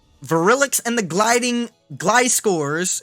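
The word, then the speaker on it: Gliscor: virulics and the gliding Glide scores is how you say I've always said glissor I know it's wrong relics in the gliding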